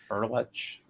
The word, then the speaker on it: Berletic: Brian, the C in your name sounds like a ch. Well, it's ordinarily it's Berletic, but the proper Croatian pronunciation is Berlech.